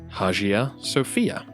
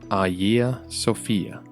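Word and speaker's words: Hagia Sophia: the name looks like it should be said haia Sophia but we the soft G sound which you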